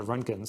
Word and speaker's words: Roentgen: Among them are the Runkins. So I believe it's spelled Roentgen, the Runkins.